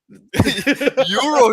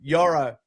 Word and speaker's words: Yoro: Euro, he said. Every time he say Euro. I got corrected by Elliot and Yanni, so I'm Yoro.